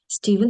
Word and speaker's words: Stephen: Він читається в Steven, як Steven King.